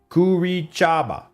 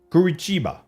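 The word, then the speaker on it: Curitiba: Kurichaba. Kurichiba. Kurichiba. Here's the problem with like trying to spell something phonetically. You got to give me the empasis on the right salab. Emphasis on the right syllable.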